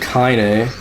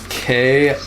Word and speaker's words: Kaine: game, and we have Kaine, Kaine, I think is how you spell her name. Apostrophe E. Yeah, the E has like a French accent on it. But I say it like Kanye West, so that's Mash does